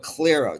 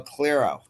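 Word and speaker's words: Clairo: And then fifth, I'm gonna go with Clero. Do you know Clero? Yeah, I know. Clero.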